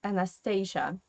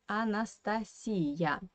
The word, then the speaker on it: Анастасия: So, in English, you pronounce this name as Anastasia. And I think that I do like the English version. For my ears, it sounds more pleasant. Anastasia. Yeah, in Russian we say Anastasia.